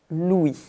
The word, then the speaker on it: Louis: Mais on ne prononce pas le S final. Louis.